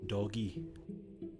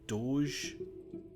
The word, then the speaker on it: Doge: oh really Italian Dogecoin I only realized recently that I think see when it's that Meme of the dog I think it's made to be pronounced doggy I heard Doge um and then I'm like wait it's doggy here we go right